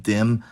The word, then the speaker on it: dem: They may be spelled like de and dem, but in colloquial speech, they’re both pronounced dom, and sometimes spelled like that too.